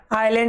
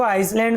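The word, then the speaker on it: island: That की हैड हिट द हेवियन आइलैंड इन 1946। देखो आइसलैंड नहीं पढ़ना है।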